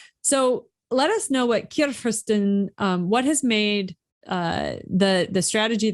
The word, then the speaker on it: Churfirsten: So we generally kick off with this first question, which is can you pronounce this for us so that they know that I'm butchering it one more time. Churfirsten.